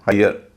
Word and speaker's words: hire: बोलते समय उसका उच्चारण होता है य, जैसे HIRE, इसका उच्चारण है हायर।